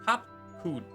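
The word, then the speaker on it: Cahciua: As for nomenclature to address my individual person, I believe it would be pronounced Kafkuj.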